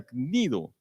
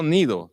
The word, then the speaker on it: Cnido: duras penas frente a Cnido. No Nido, tiene que pronunciar la G antes, Nido, porque nos impedía